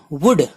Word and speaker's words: would: है, राइट लिखना, WOULD वुड L silent है, वुड गा गेगी यता